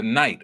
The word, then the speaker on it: knight: I am the knight or the Moorish knight. The K is silent because it represents the secrets that the knights brought to the Templars.